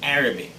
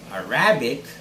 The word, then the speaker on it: Arabic: the word with the stress on the first syllable and repeat after me ceremony ceremony third word arabic it's arabic it's not arabic just as most of us would say it